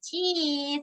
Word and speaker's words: teeth: 그래서 teeth 할 때 발음하실 때 주의점 알려드릴게요. 그냥 teeth 아니고요. 양옆으로 딱 찢으세요. teeth 하셔야 돼요. 그렇게 발음하시면 정확하게 발음하시는 거예요.